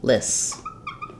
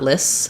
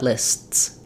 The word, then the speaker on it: lists: just dropped it then lists would just sound like lists um which is not correct not lists but lists lists so the T does stop the air even though we don't hear a sound we hear a break between our two s sounds um yes good